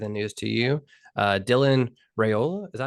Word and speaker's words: Raiola: Dylan Raiola, is that how you say it?